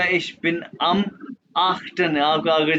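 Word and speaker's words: achten: जैसे ये देखो जर्मन बताने का तरीका है, ये आख्टन, आख्टन, आफ्टन।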